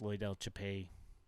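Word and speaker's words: Loidel Chapelli: second at bat here is that how you pronounce his name by the way Japan yeah yeah it's Loy Del chapey okay I had not picked that one up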